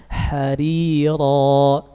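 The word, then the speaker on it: حَرِيرًا: Baik, sekarang kita masuk pada pembahasan tarqiq, yaitu apabila huruf ra yang pertama berharokat kasrah. Contohnya harira. Pada ra yang pertama, ra yang kedua tafkhim karena fathah, iya kan?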